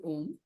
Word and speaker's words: Om: grammar uh that they the A and the U CES to form o so it's pronounced as om so even the mute